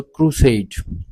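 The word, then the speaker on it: crusade: For example क्रुसेड। क्रुसेड क्रुसेड। तो इसमें एस ए डी ई ये वाला जो हिस्सा है इस पर हमने ज्यादा दबाव डालना है, जोर देना है जब हम इसको प्रोनाउंस करते हैं इसलिए ये स्ट्रेस सिलेबल है।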